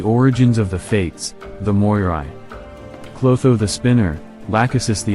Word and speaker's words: Moirai: three sisters of Fate the Moira or the Moira if you want the Greek pronunciation the sisters were the